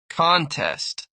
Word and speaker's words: contest: Contest, noun versus contest, verb. Common stress patterns.